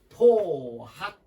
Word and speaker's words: 포학: 전 사나울 사나울 포 단어에 따라서 포로 발음도 되고 폭이라고 발음도 됩니다 여기서는 포학 포학 폭이라고 하지 않잖아 여기서는 포학 사나울 포산 행 포학